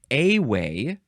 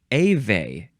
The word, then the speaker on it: Ewe: You can pronounce this a-way or ave.